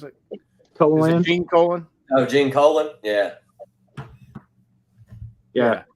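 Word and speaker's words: Gene Colan: again now yeah colon is that how you pronounce it colon gene colon oh gene colon yeah yeah yeah he did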